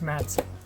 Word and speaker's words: Madson: And I'm sorry I'm staring at something here because I always say his name wrong, but it's Madson. Always want to say Macy and I don't know why.